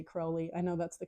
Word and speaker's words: Crowley: should say I have to learn to say Crowley I know that's the correct pronunciation his card uh is not number eight